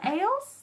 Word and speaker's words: Egil: think she says Eils, with a soft G.